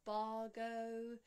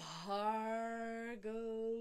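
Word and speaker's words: भर्गो: Bhargo, aspirated Bha with the H. We have to have an expulsion of air from the lower belly. So it's not Bargo, it's Bhargo, making sure to raise the tongue for the R.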